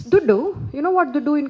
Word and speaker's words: Dhuddu: So he said, it's Duddu.